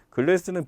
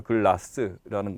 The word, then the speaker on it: 글라스: 글래스는 비표준어죠. 이 글래스가 아니라 글라스라는 거 아로 발음되는 거 이제 그걸로 변화해야 됩니다.